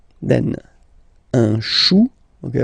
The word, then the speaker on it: chou: Then, un chou. Okay, remember, when you combine this C and H, you get the sound sh. Chou, un chou.